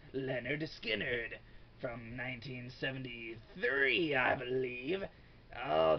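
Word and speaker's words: Lynyrd Skynyrd: reviewers and whatever ever Leonard skinnard pronounced Leonard skinnard from 1973 I believe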